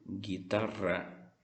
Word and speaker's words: guitarra: Se esse GU vier antes de E e de I, sem nenhum tipo de acento, nós não vamos pronunciar esse U. Por exemplo, guitarra, guitarra, certo?